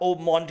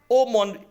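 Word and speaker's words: haut monde: तो ऐसे को आप ओमोंड कह सकते हैं। ये जो HOUT है इसमें AU का प्रोनाउंस होता है और MONDE को हम मॉन प्रोनाउंस करते हैं।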